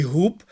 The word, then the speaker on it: губ: в кінці оглушуються вони а в українській мові дзвінки вимовляються дзвінку оглушення не відбувається тому і Дуб і губ відповідно має в кінці слова цей звук виразно звучати Так Так А щодо